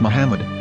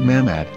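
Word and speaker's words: מחמד: ben yehuda's hebrew english dictionary it is correctly pronounced as muhammad not mahmod so how we're going to know for sure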